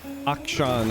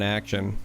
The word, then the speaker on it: Akshan: have our early action excuse excuse me akshan i'm trying to teach myself to say it properly i just look at this name and i think it's naturally supposed to be a pun on action right action okay what